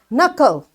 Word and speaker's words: knuckle: key is again silent knuckle knuckles that's your knuckle so this k is silent and knowledge this k